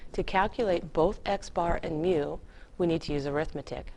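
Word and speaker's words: μ: it's called me mu it's like an m and a u it's pronounced mu and this if you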